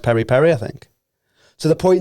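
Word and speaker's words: peri-peri: per H it's spelled p Peri but it's pronounced Perry Perry I think to the point now where people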